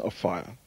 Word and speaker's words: Offiah: His surname is pronounced Offiah, but the English press call him Offiah.